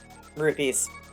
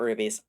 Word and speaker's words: rupees: Catfish, I don't need rupees. Rupees. Rupees, I should probably pronounce that properly. This isn't Wand of Gamelon, they're not rubies.